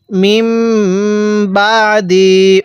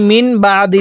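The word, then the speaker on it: مِنْ بَعْدِ: মিম বাদি, অনেকেই মিন বাদি পড়ি, এখানে মিমকে এই ছোট্ট মিমের সাথে লাগাবো। কিভাবে পড়ব?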